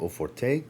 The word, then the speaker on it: Eau Forte: I'm being told that the E is silent it's either o for or o Forte a lot of us